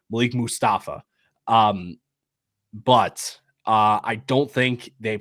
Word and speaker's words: Malik Mustafa: That's how you say his name, Malik Mustafa.